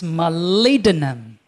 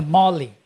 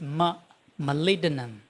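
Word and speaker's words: molybdenum: I told you it's malidinum not a molly it's malidenum.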